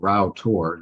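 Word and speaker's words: Rough Tor: them which is called Rao tour you'll see from this slide that it's it's spelled rough but pronounced Rao and the nearby powercropping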